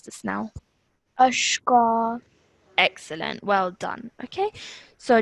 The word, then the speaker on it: أشقى: So what happens over here, if you apply this rule, is that this fatha on the qaf will now turn into a vertical fatha. So how would you pronounce this now? أشقى.